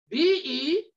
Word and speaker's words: Belial: We read of the word Belial, B-E-L-I-A-L. It's pronounced Belial.